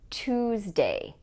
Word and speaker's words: Tuesday: The T does not sound like ch, it sounds like t. For example, in the word Tuesday, Tuesday.